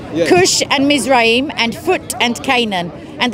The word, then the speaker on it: Mizraim: It's Mizrim, yeah. It says Raim. It says, look. M-I-Z-R-A-I-M. This is, and the sons of it says Mizraim. Yeah. Mizrim. No, that's not how you pronounce that. Well, some say, some pronounce it like that.